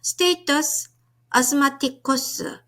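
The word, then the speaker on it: status asthmaticus: 발음이 조금 어렵죠? 한번 천천히 읽어보도록 하겠습니다. 스테이터스 아스마티쿠스.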